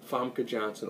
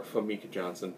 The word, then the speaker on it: Famke Janssen: And the second one, they kidnap Liam Neeson and his wife, Famke Janssen, or Famke Janssen, depending on your pronunciation of it.